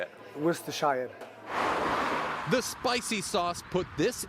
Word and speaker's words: Worcestershire: It tantalizes the taste buds, but pronouncing its saucy name twists the tongue. Worcestershire? Yeah, Worcestershire. Worcestershire.